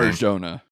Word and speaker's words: Arjona: The chemistry between him and Adria I'm not even going to try to pronounce her last name. Arjona.